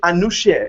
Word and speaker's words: Anousheh: Is it Anousheh? Is that the correct pronunciation?